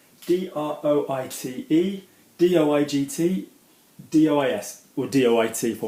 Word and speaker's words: droite: Droite would be the same, but you're pronouncing the T on the end because it's to the right, okay?